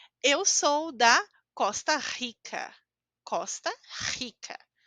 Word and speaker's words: Costa Rica: sou da Costa Rica Costa Rica escutaram a letra R essa forma como a gente fala é a única forma que nós temos da letra R ao início da palavra ou dois R juntos então parece estranho eu